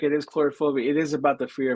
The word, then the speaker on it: Coulrophobia: fear of clowns right is that how you pronounce chorophobia that that is correct it is chorophobia it is about the fear of clowns yes